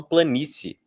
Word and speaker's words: planície: Aqui nós também temos 2 sons vocálicos em que um é muito fraco, o outro é um pouco mais forte e os 2 são pronunciados no mesmo jato de voz. Então, se. Inclusive, a maioria das pessoas nem pronuncia como se tivesse duas vogais, né? Muitos falam planície. Planície. Enfim.